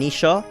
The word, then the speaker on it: Naoise: These pairings include, but are not limited to, Cain and Abel from FEs 1 and 11, Alec and Nisha from FE4, yes that is the correct pronunciation, Alan and Lance from FE6, and Oscar and Kieran in FE9.